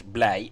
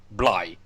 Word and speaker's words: blij: As a matter of fact, many foreigners trying to learn the Dutch language would often mispronounce blij as blij, which is of course the pronunciation for the German word here.